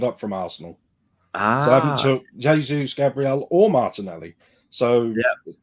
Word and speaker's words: Jesus: Gold Nick 27 familiar Jesus who I now spell j-a-y-s-u-s because it's the only way I can make sure I say his name properly great build up play